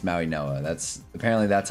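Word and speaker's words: Mauigoa: Uh, apparently that's how you pronounce it. I thought it was Maui Goa. Apparently it's Maui Noah.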